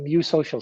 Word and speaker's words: eusocial: there are nine tribal species he calls the mu social species that's spelled e-u-s-o-c-i-a-l and those nine species have what